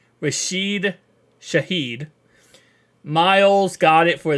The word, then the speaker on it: Rashid: is Nixon for the Packers pun returner is Rashid rashed let me say his name correctly rashed Shahed miles got it for the special teamer